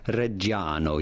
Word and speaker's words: Reggiano: pronouncing it in Italian reggiano you do want to stress on the second to last syllable on the second a parmigiano it'd be fine